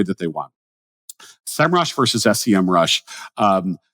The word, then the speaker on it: Semrush: I am saying it I say semrush that's how I would pronounce it now although when I type it on my phone it's still comes out sem Rush from all of my